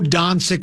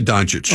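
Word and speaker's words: Dončić: Do you go Doncic or Doncic? Because you said you went both ways on that one as well. I just say Doncic.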